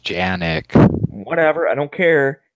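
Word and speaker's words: Canik: This Canic. It's pronounced Janik.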